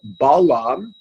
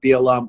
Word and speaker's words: Balaam: bottom line is this pronunciation of be alarms name as belong in English is because the English took it from the Greek as the English took most things from the Greek the Greek pronunciation of balaam was Bala why if by snitched I have no idea why it is a linguistic peculiar arity with the Greek language something happening to do